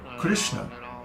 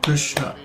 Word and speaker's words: Krishna: the vowel is a so the word is pronounced I'll do that again in other words it's three patas law similarly the word Krishna is only two Potter's law because each of